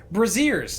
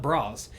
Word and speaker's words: braziers: Braziers, not bras, but the braziers.